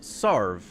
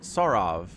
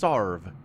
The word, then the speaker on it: Sarav: He told me that second A is silent. It's pronounced Sarv, not Sarav. It's just Sarv.